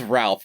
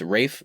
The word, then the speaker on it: Ralph: not in the wrong everybody gets it wrong it's a wraith finds it's it's spelled ralph but his name is rafe fines but i wanna